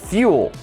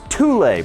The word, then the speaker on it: Thule: And now they actually have a backpack that they just brought out in collaboration with Fuel. Now, I know it's pronounced Thule, but when I heard that, I rebuked that